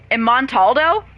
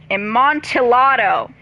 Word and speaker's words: Amontillado: Oh, God, I don't know how to pronounce that. Montaldo? Wow, you know what? I'm pulling out my thing. Shut up. Not like that. Google Translate. Jesus fucking Christ. Yes! Amontillado.